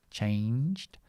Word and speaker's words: changed: Sorry, changed.